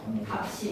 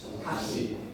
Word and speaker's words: 값이: 쓰가 무조건 연음에서 올라가 쓰로 발음이 되는 거는 의문의 본에는 없어. 근데 무조건 쉬워 쓰로 발음이 돼. 이거 솔리되기가 아니야. 이거 어떻게 발음해야 되지? 값이.